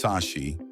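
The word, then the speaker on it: Sași: Old Brashov was founded by Saxons, pronounced Sashi in Romanian, who arrived in the Transylvania area after 1211.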